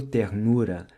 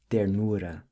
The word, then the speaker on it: ternura: Another feature of the Carioca accent is the pronunciation of certain R's with a guttural sound, as in the word ternura. You'll hear him say ternura.